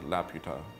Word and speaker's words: Laputa: my mexican homies don't get that wrong it's pronounced Laputa don't say it the other way kids don't